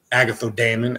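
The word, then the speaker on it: Agathos Daimon: hand bath path books that is a Greek word so when you're saying the Agatha demon Agatha Damon as it's pronounced you're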